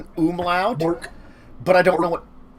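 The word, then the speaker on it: Mörk: umlaut, Mork.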